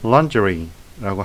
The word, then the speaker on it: lingerie: 영어식 발음은 lingerie라고 하는데요.